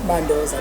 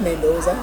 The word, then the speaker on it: Mandoza: Pronunciation Kanjani? Was Mandoza, not Mendoza.